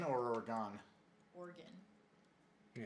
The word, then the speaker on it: Oregon: Oregon or Oregon? Oregon. Yeah, it's Oregon. Yeah. Oregon. And when I was up there, people would always, you'd hear people say Oregon, and I was like, Oregon.